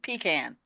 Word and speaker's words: pecan: that they discovered that the word for the nut is actually coming from an Indian dialect, native dialect, and they pronounce it pecan. Okay. So pecan Yeah, is it's always actually good correct.